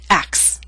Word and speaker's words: acts: These are voiceless sounds, and we drop the middle one, which happens to be a T. Instead of acts, we say axe.